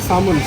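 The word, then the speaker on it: salmon: এই যে এখানে ফিশ মার্কেট, কত রকমের মাছ, স্যালমন, ऐसे एल में बोलते हो सामुन सामुन बोलो সামন। एल तो साइलेंट है सामुन স্যালমন ফিশ।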